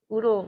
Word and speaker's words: UDL: for learning are um what's oodle rhymes with noodle that that seems odd